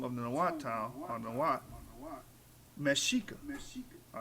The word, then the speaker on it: Mexica: Mexica, pronounced what?